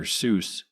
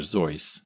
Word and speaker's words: Seuss: I've heard that Dr. Seuss is really supposed to be pronounced Dr. Zoe to rhyme with choice.